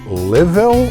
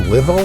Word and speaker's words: LLIIVVIILL: It's a little hard to pronounce the username on this, but it's basically like Livil. It's like LLIIVVIILL. Right? So LLIIVVIILL is the name, Livil or something like that.